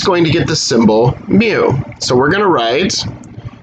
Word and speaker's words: mu: population mean we call mu so that is a greek lowercase m and it's pronounced like the noise that a cat makes okay you cannot write